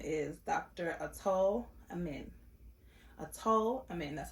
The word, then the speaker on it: Atul Amin: Atul Amin, that's how you pronounce it.